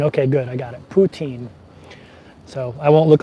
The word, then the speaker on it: poutine: about that poutine okay good I got it poutine so I won't look like a dumbass when